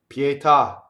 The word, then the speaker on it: pietà: the pee right and you don't want to hear the P or the gene or the T having a puff of air like pietà never right pietà that's how you say it okay going on Queen